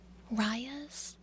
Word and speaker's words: Raya: of different, Rayas or Rayas. I think it's mostly pronounced Raya. R-A-Y-A. I pronounced mine Raya because of rabies, but I've seen a lot of different, people with the name spelled like mine.